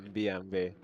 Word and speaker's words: BMW: How you pronounce it Hungarian? BMV.